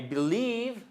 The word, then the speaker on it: believe: I believe d'ailleurs, voyez, I believe I can fly. Non, pardon. Seconde syllabe, le stress.